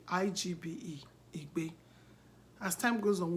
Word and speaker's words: Igbe: I-G-B-E.